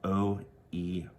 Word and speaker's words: Oerth: That's spelled O-E-R-T-H, and pronounced kind of like Earth, but with a Jersey accent, Oerth.